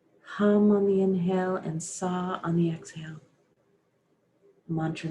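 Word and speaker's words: Sah: On the exhale, the mantra is Sa, S-A-H, Sa.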